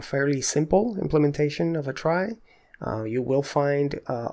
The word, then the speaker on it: trie: the data structure is called a try it's spelled t r i e and a try is